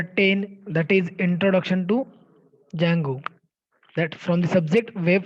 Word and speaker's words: Django: So here Django, that means here, see the pronunciation, Django. Okay, here D is silent. So that's why it is Django.